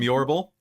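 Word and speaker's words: Iorbral: so Christal you're from yal which um when you look through the book later in the world section is not spelled like it sounds it's i o r b r a l yeah your I keep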